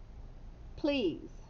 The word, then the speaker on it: please: it's e a plea a is silent and then it sounds like a z but it's not it's s e please all right